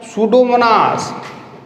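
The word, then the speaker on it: Pseudomonas: P silent होता है इसमें, सूडोमोनास, ये जो नाम दिया ना इसमें पी नहीं बोला जाता, सूडोमोनास।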